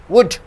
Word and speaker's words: would: The L is silent over here. You see here. Could. You don't say could. Could, should, would.